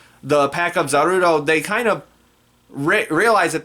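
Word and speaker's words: Zarude: the monkey pokemon zaru zarudo that's what i'm gonna pronounce it as because that's what it's pronounced in this film the pack of zaruto they kind of realize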